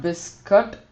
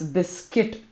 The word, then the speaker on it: biscuit: biscuit it's it's not biscuit many people say biscuit it's it's biscuit like the U is silent it's biscuit biscuit and